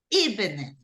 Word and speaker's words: evening: Okay, it's evening, okay? Evening. So, Jessica, if I tell you evening, where do you hear the stress? First or second syllable? First. In the first, right?